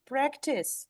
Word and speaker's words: practice: hear it advise devise but practice where is the stress in practice on a exactly and it's not so